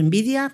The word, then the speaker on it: Nvidia: Y los chips, sabéis que pues los que están permitiendo la inteligencia artificial, fundamentalmente la marca más conocida es Nvidia, o Nvidia, como pronunciándoos así mejor, pero la realidad es que